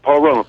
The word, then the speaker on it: Pahrump: Kenneth in Pahrump. I know I'm mispronouncing that, Nevada. Hey, Kenneth, how do you say the name of your town? I've been there. You did it just right, Pahrump.